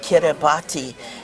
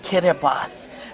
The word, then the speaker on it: Kiribati: And it said, do not say Kiribati. It's pronounced Kiribati. Their T is pronounced like an S.